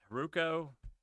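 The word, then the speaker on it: Heroku: integrators and these were haruk hiruko i think is how you pronounce it and travis ci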